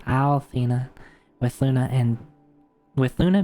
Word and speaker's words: Althena: the world by resurrecting the ancient goddess Althena, not Athena, Althena with Luna and with Luna being a key element in the plan.